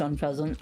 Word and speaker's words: Unfezant: be the UN feasant Unfezant I just like saying it funny I know that it's pronounced on peasant I mean they are